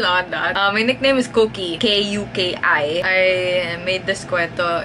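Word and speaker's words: Kuki: My very close friends and the people I live with, my family, they call me Cookie. The backstory there is that since it's spelled K-U-K-I, when I was a baby, I used to always look like I'm angry.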